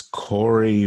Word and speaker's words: Koerri: name and spell it please my name is Corey Corey is spelled KO e RR I wasa CH